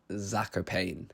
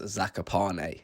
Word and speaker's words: Zakopane: Now, when we first got there, we were all pronouncing it Zakopane, but we quickly learned from a couple locals that it's pronounced Zakopane.